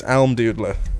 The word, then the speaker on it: Almdudler: It's Almdudler.